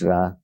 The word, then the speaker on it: Ra: and the Egyptian bra some say re but it's ra I mean the same